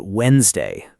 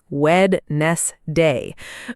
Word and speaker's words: Wednesday: Let's talk about Wednesday. That word tricks many people. Yes, many learners try to say every part, Wednesday, but it's usually pronounced more like Wednesday.